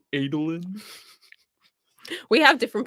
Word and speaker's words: Adolin: favorite stormlight character uh whether it was adeline or adeline it's adeline oh is it adolin we have different pronunciations